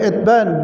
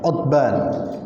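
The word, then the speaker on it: عتبان: Kemudian dari Itban bin Malik ada yang menulis dan membaca Itban, ada yang membacanya Utban. Ya, di sini disebutkan Itban bi kasril ain 'alal masyhur. Yang masyhur ya namanya Itban, tapi ada pula wa hukiya dhammuha. Namun ada sebagian yang menulis Utban.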